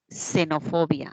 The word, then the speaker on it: xenofobia: interesa es la pronunciación no xenofobia Ah suena como una s muy bien a nivel